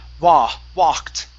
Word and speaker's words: walked: Yeah, so it's an ah sound instead of a woo, okay?